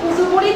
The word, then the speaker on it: কুঁজো: তোমরা প্রথমেই খেয়াল করো, পর উপরে একটা চন্দ্রবিন্দু দেওয়া আছে, উচ্চারণটা করতে হবে একটু নাকে।